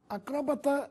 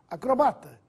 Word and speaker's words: acrobata: preferencial vamos a elas acróbata ou acrobata Possivelmente você já ouviu essas duas formas Ambas estão corretas Mas para não perder o equilíbrio use a forma preferencial acrobata sem assento autópsia ou autopsia aqui